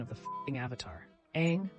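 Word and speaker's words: Aang: pronunciation of the Avatar Ang rhymes with tang not Ang rhymes with dong what really gets me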